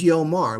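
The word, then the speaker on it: יאמר: This word is yomar, which means he will say. Why have the aleph there? It's a silent letter, it's a placeholder.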